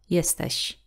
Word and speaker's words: jesteś: then we will say jesteś. Jesteś. And this sh at the end is a similar sound as in the word sheep. Still a little bit different. Sh. Sh. Jesteś.